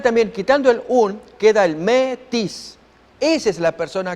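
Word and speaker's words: μή: El 3361 es el me, se pronuncia me.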